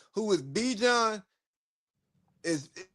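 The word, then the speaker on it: Bijan: You know good and damn well anybody's name who is Be John is if your name is spelled B I J A N, your name is Be John.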